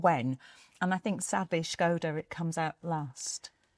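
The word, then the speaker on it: Škoda: And then you've got the Scoda Epic.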